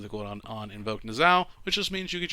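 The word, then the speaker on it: Niuzao: cooldown on invoke Zao I like to call him nuzio but I'll say it correctly this time it reduces the quote on on invoke nasal which just means you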